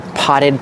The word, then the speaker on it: potted: so we say they're potted plants you put the Ed after pot use a Double T potted the Double T is pronounced as a fast D potted potted these are